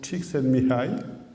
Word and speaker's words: Csikszentmihalyi: donc ça se prononce Csikszentmihalyi, d'accord? Donc, on peut, si on veut décomposer, les anglo-saxons décomposent de la façon suivante en disant chicken comme le poulet, sen comme posté, mi comme moi et aïe parce que j'ai